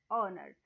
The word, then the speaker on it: honor: honor no it is honor so h is silent here in every word before